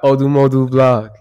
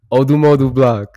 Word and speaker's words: ODMODUBLVCK: Next song, FIREGUN by ODMODUBLVCK. That's how you say his name. ODMODUBLVCK.